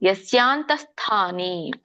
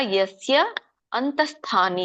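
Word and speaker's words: ಯಸ್ಯಾಂತಃಸ್ಥಾನಿ: ಪೂರ್ಣನು ಹೇಳಬಹುದು ಲಭ್ಯಸ್ತ್ವನನ್ಯ ಆಮೇಲೆ ಮೂರನೇ ಲೈನಲ್ಲಿ ಯಸ್ಯಾಂತಸ್ಥಾನಿ ಯಂತಸ್ಥಾನಿ ಬಿಡಿಸಿದಾಗ ಯಸ್ಯ ಅಂತಸ್ಥಾನಿ ಅಂತ ಕರೀತಾರೆ ಯಸ್ಯ ಅಂತಸ್ಥಾನಿ ಯಸ್ಯಾಂತಸ್ಥಾನಿ ನೋಡಿಲ್ಲಿ ಮತ್ತೆ ತಕ್ಕೆ ವಿಸರ್ಗ ಇದೆ ಹಾಗೆ ಇಲ್ಲಿ ತಹ ಸ್ಥಾನಿ ಅನ್ನಂಗಿಲ್ಲ ಯಸ್ಯಾಂತ ಸ್ಥಾನಿ ಸ್ವಲ್ಪ ಹ ಹೇಳಬೇಕು ಯತ್ಯಸ್ಯಂತ ಸ್ಥಾನಿ ಸಕೆ ದೊಡ್ಡ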